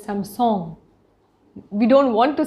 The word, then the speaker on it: Samsung: brand names like samsung obviously we say samsung but it is some song we don't want to